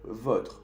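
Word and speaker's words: vôtres: Le o la votre, masculino o femenino, votre, votre, y plural con un S, pero se dice de la misma manera, votre.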